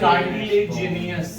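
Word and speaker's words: cartilaginous: सर एक बार उसको pronounce करना प्लीज। इसको ये कार्टिलेजिनियस, CARTILAGINIOUS।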